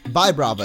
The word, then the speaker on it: Vibrava: Vibrava is, I think, what I settled on last time because it comes from vibrate.